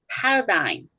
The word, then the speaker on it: paradigm: 근데 이때는 G 뒤에 N이 있지만 N이 단어 맨 끝에 있는 유창이 아니기 때는 발음이 돼요. 얘는 무슨 뜻이요? 지명이라는 뜻이죠. 그다음에 볼게요. 예, paradigm.